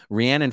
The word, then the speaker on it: Rhiannon: Rhiannon, whoa, you pronounced both my names correctly.